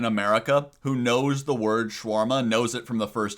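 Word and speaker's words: shawarma: Schwarma. Oh, schwarma. I can't even spell this Schwarma. Schwarma. Boba. Very Boba. Cynthia. Cynthia. Cynthia. Cynthia. You don't pronounce the A between W and R.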